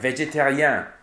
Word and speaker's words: végétarien: For example, the en, if you have en in French is pronounced en most of the time. But when it comes after an I or a Y, it's un, like Adrien or végétarien.